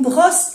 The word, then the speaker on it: brosse: Cuando hay dos S se pronuncia bien la S y no se pronuncia la E.